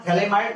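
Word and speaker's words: phthalimide: पास, इसका नाम है थैलेमाइड, इसका नाम है थैलेमाइड, पीएच साइलेंट रहता है, पीएच PHALIMID, ठीक है, ये थैलेमाइड, थैलेमाइड, ये थैलेमाइड, ओके।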